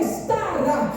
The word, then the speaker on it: Stara: A pronúncia do nome é Stara.